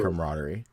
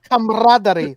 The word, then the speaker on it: camaraderie: So, like I really I really admire their camaraderie. Uh, I've admired it for years. Honestly, you pronounced that wrong. It's camaraderie. Come on.